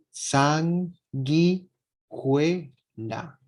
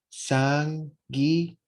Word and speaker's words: sanguijuela: Sanguijuela. No hay una diéresis en la U, entonces no se pronuncia la U. Sanguijuela. Sanguijuela.